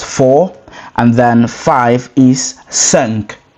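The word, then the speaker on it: cinq: And then five is sank. Sank.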